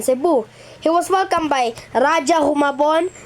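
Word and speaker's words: Rajah: humabon you ra Raj ra Raj toas it's Raj it's Raj pronounced on February 39th 1565 Spanish and Mexican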